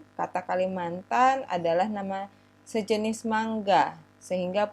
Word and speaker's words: Kalimantan: Karena vokal A pada kata mantana itu menurut kebiasaan setempat sulit diucapkan, maka kata Kalamantana ini dihilangkan gitu ya, diucapkan menjadi Kalimantan, yang disebut oleh penduduk asli dengan Klemantan atau Kulamantan, sehingga terus lama-lama dibiasakan, diturunkan menjadi Kalimantan gitu.